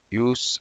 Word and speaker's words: use: Use as a noun, pronounced as use as. But as a verb, it's use, the same spelling, use. But as a verb, use. As a noun, use.